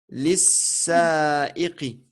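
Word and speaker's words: للسائق: yaqulu li attends lil sa ah ouais yaqulu lil On sa'iqu on prononce pas le lam du deuxième, du alif lam, parce ouais que c'est une lettre shamsiya. Donc on dira lis-sa'iqi.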